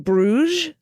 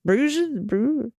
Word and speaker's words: Bruges: to correct the correction the s in bruges is silent much like the d in the previous episode the d is silent in america oh my god so funny in bruges bruja bruges all right well anyway